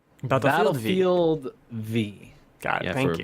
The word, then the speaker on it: Battlefield V: Battlefield 5. No. Who? It's pronounced Battlefield V. Battlefield V.